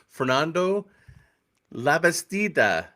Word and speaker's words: Fernando Labastida: Uh, I'm your host, and today we have a guest co-host, Fernando Labastida. Did I do that right? You pronounce it perfectly.